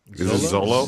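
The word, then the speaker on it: Xolo: from, uh, Cobra Kai, uh, how do you pronounce his name? Uh, Zolo. Zolo. Zolo.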